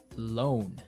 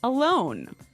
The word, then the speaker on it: loan: when you borrow money you get alone alone yes not to be confused with alone like by myself no so this is l o a n loan right okay great let's